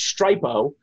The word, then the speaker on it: Stripo: If you use a site called, it's pronounced Stripo, be very careful when you type this in.